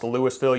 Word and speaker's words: Lewisville: And yes, it's pronounced Lewisville. You do pronounce the S for this one, but this is a a town right over here next to Marville.